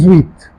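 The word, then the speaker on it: dix-huit: So how do you pronounce it? The zweit. The zweit.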